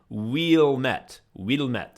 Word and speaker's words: Ouilmette: And his last name was spelled Ouilmette. You know, like the French word oui, Wilmette. So it was pronounced Wilmette. You would be in a French accent, but it was clearly Wilmette was his last name, and the anglicized version with the W-I-L at the front, Wilmette, that's what the town is called.